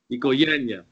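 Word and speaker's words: οικογένεια: Tell him, Anastasia, how to say it right. Oikogenia. Ikoyanya, family. Why?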